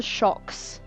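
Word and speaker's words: Shokz: Yeah, it's a shocks. Um, I will spell it into chat for you.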